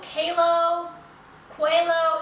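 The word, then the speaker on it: Qalo: Um, this one particularly is from company called Kao Quao. It's spelled Q A L O.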